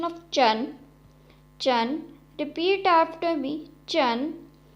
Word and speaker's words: zhu: Pinyin is ZHU, has a pronunciation of chu, chu.